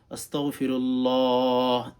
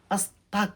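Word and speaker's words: أستغفر الله: এখানে কাফ উচ্চারণ করবেন না। আস্তাগ আস্তাগ আস্তাগ এভাবে উচ্চারণ করবেন। তাহলে আপনি কিন্তু সহিহ শুদ্ধ করে পাঠ করতে পারবেন। আস্তাক বলবেন না।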